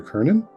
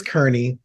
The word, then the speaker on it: Kerney: I'm Perry Clark, licensed marriage and family therapist, here with Kernan. How have I been mispronouncing your last name? I do that sadly with so many people. It's Kerney. It's Kerney.